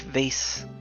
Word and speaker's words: vase: I've made it up to space with my beloved antique vase. So, I know some people pronounce it vase, but it just wouldn't rhyme with space if I said vase.